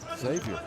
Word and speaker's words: Xavier: Xavier. For me, one of the best point guards in this tournament, without a doubt. You know what Xavier rhymes with, don't you? Savior.